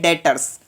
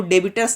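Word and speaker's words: debtors: डेटर्स में क्या होता है कि बी आपका साइलेंट रहता है, तो आपको बोलना है डेटर्स, आपको डेबिटर्स नहीं पढ़ना है, डेटर्स पढ़ना है।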